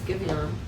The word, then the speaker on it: Giveon: I don't know how to pronounce it, but it's Giveon.